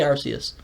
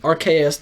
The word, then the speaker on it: Arceus: How do you say Arceus?